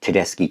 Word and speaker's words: Tedeschi: bands four-part concept piece i think that's the first time i pronounced the name of the band correctly i think tedeschi trucks band and as i said before